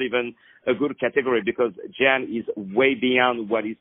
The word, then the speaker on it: Jan: So it's Jan, and it's Daley with a David.